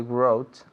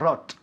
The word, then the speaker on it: wrote: Wrote. Wrote. Yeah, not rot. Wrote.